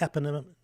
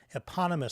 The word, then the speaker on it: eponymous: in the ep the epin eponymous series that's not how you pronounce this eponymous series is how you pronounce that yes health stuff mid